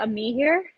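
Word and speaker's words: Amihere: Her name is Leticia Amir. Did I pronounce that name correct? So it's Leticia Ami here.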